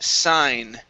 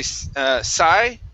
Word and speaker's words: sign: Next up is the word sign. Okay, right here. Make sure to pronounce the N at the end. Okay? If you say psi, it's a different word, so you need the N there.